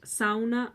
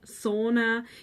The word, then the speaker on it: sauna: It's pronounced sauna. And if you pronounce it sauna, you will get the whole nation of Finland angry at you.